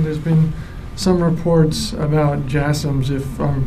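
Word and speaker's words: JASSM: um to Ukraine there's been some reports about jums if I'm pronouncing that correctly the last question yes jasms yeah you're pronouncing it correctly um I I don't have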